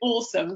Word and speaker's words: Osome: to speak japanese and if you literally wrote that in japanese it would be oh so may but of course you pronounce it awesome so i'm going to